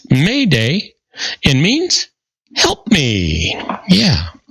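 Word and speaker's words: m'aidez: The term Mayday, used for signaling for help after SOS, It comes from the French term m'aides, which is pronounced Mayday and means help me.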